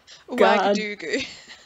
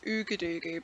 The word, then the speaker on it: Ouagadougou: I remember seeing something very similar happening in Ouagadougou. Ooh, say that again. Ouagadougou. Or sometimes it's pronounced Ouagadougou, but I think it's properly pronounced Ouagadougou.